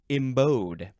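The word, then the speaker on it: embowed: the next word is embode e m b o w e d it's like a bow and arrow this is an adjective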